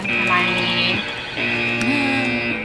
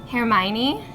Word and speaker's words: Hermione: So I think Hermione, am I pronouncing that correctly? - Hermione.